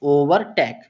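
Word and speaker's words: overtake: तो इसका उच्चारण जो पूरे का उच्चारण होता है इस वर्ड का तो इसे हम क्या पढ़ते हैं? ओवरटेक।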